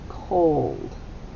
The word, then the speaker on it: cold: But you notice, boys and girls, it does not make this short sound of ah. It makes the sound of what? O. That's right. Old. Long O. And that's why it's a one-syllable word. It has a glued long sound. And it is a closed exception. We cross out the C. It is a closed exception. because it looks like it should be called, but it's not. It's cold.